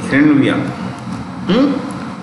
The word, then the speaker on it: hryvnia: Renvia.